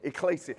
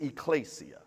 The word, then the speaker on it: ecclesia: Phonetically it's spelled E-K-K-E, E-K-K-E. Now I'm in front of you, I can't spell it. E-K-K-L-E-S-I-A, there you go, ecclesia.